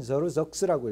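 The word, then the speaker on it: Xerxes: 영어로는 저르적스라고 읽어요. 발음이 좀 어려운 단어, 굉장히 어려워. 사람 이름인데도 왕 이름인데도 좀 어렵습니다. 발음이 크세르크세스인데 영어로 하면은 저르적스라고 읽습니다. 저르적스 이렇게 읽어요.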